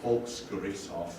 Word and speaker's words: Volksgerichtshof: And how do you pronounce that? Oh, Volksgerichtshof, but yeah, it's just People's Court.